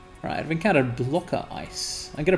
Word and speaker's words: ICE: their Matrix and again it's pronounced ice it's the same concept